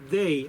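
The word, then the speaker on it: δεῖ: necesario Aquí esta palabra viene de la palabra griega Day Cómo se escucha de e i d de dedo e i de y así se escribe Pues la transfiteración de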